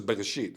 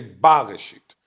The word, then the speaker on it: Bereshit: They just say Bereshit. They don't say Bareshit.